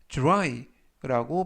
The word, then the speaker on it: dry: 이때도 역시 dr 발음이 drew 그래서 dry라고 발음하시면 되겠습니다.